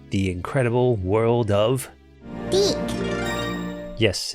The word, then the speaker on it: DiC: "The incredible world of Deak." Yes, it's pronounced Deick. The company was originally French.